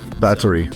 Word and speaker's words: Báthory: like I don't say bath I say bat battery yeah battery because she's Hungarian cool so they don't pronounce the th as much there they just B three